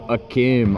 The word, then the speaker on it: Hakeem: hole nice pass to Hakeem Olajuwon he's not wearing the jersey but apparently his name i found out rhymes with a keen eddie goes for the